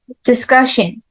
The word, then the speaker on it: discussion: argument AR and then discussion discussion yes this part okay and then discuss second famous difference difference and